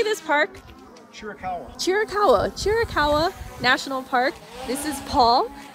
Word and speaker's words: Chiricahua: Chiricahua National Park.